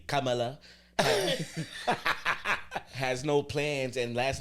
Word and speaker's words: Kamala: Every syllable. Kamala. With the tongue roll.